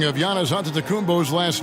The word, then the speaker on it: Antetokounmpo: In the Greek way, you gotta say with a D, so it's Antetokounmpo. But in the Greek way, you say with the NT, like Antetokounmpo. Whatever you got, just say, it's Giannis Antetokounmpo.